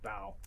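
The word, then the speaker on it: bough: of the topmost balls is that how you pronounce this word yeah it's about b-o-u-g-h it's bow blimey these these freezes is gonna kill me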